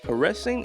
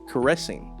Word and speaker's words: caressing: Where's the inflection in that word? Caressing. Yeah, I think it's caressing, not caressing. It can't be caressing. That doesn't make any sense. That sounds like kerosene.